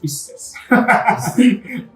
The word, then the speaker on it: Pisces: M'encanta com ho pronuncia Piscis. Bueno, és que està en llatí, per tant. En llatí és Pisces.